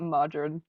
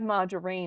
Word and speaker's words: margarine: We got margarine. No. That's another word that Americans say different. Instead of margarine, it's margarine.